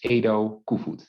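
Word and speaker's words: Edo Koevoet: for having me i really appreciate it you pronounce my name as ado and and the full name is edo kufud and what is the meaning of your last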